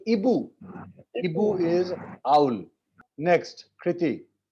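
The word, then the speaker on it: hibou: Hibo nahi hoga. In French, H is there, but we do not It is pronounce silent. H. We go for the next vowel. So Ibu.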